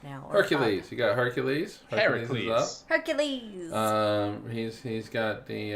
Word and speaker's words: Heracles: them thank you now I guess the correct pronunciation would be Heracles if it's green well if it's yeah Greek is Heracles but I'm American Heracles